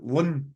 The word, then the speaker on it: LLNN: going to go with llnn which I think is pronounced Lun a Lun so how would you